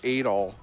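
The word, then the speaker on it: Adol: It's pronounced Adal.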